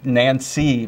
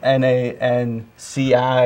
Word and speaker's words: Nanci: first saw your name, I thought it was Nancy, but right. it's actually spelled N-A-N-C-I, and it's pronounced Nanci. Well, all my friends call me Nanci, so technically it was Nancy, but then you always got to say Nancy with an I, Nancy with an I.